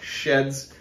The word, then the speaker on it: SHEHDS: the sheds website and the proper way to say it is sheds basically just take the second H out my general opinion on